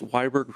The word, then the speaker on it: Wiberg: First, it's Weiberg, rhymes with Freiberg, as he pointed it out to me the other day.